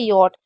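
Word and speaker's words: yacht: उसमें सीए का उच्चारण नहीं है। मतलब ये सिर्फ एक ऐसी वर्ड मीनिंग है जिसमें सीएच को नहीं पढ़ा जाता है। बाकी सीएच कभी भी साइलेंट नहीं होता है। सिर्फ इस वाली वर्ड मीनिंग में साइलेंट आपको दिखेगा। बाकी कहीं पर नहीं होगा। इसका मतलब होता है यट।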